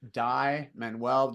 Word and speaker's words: Dai Manuel: with that medium and it's just my name die manwell just remember it's spelled d a i and then menwell m n u e l and the cool part